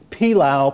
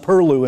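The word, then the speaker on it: pilau: culinary obligato a fighting rooster pilow pronounced Peru in St Augustine combined Cypress rice grown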